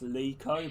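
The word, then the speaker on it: Leko: name really you know i've been told a lot like to pronounce leeco but i keep calling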